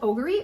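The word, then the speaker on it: Ogery: Uh, the company is called Ogory. I think that's how you pronounce it. O G E R Y.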